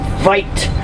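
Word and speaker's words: wyd: The Afrikaans word for wide is weit with a V.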